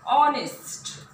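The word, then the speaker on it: honest: हम एंड यूज करेंगे, बस अट यहाँ यच से स्टार्ट हुआ है बट इसका प्रोनाउंसिएशन क्या निकल रहा है, ऑनेस्ट यानी अ से प्रोनाउंसिएशन हो रहा है।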